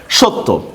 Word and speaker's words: সত্য: সত্য শব্দের মধ্যে দেখেন এখানে তটা দুইবার লেখা হয়নি, কিন্তু উচ্চারণ হচ্ছে কিন্তু দুইবার। কারণ জফলার উচ্চারণটা অনেকটা হচ্ছে আপনার কি তাসদিদ, আরবি তাসদিদের মতো উচ্চারণ হয়, ঠিক না? সত্য।